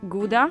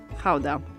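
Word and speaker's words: Gouda: this one behind me depending on whether you're a native you will pronounce it either GAA or Howa so since we're talking about authentic Dutch cheese we're going to call it Howa the cheese takes its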